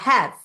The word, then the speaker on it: have: gente é work sleep o have ele é terminado com e Mas lembra que quando o e vem depois de uma consoante a gente não pronuncia o e vai ficar have have agora a gente vai